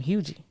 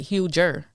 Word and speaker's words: Huger: He was from Hugie. Oh, I didn't even know that was a real place until a couple. And I was saying it wrong because it looks like Huger.